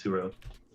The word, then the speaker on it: Turo: It's Turo. Turo. Turo. Oh, Turo. There you go. Yes, Turo sushi. Oh yeah, we gotta schedule sushi. Omakase. We'll find spots. What's it called? Toro? Turo.